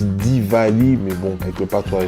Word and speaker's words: Diwali: lumières emmène en fait à se prononcent divali mais bon quelque part